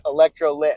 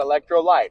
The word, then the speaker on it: Electrolit: oh yeah and and it's actually it's electrolit it's not electrolyte it's spelled electrolit but does it have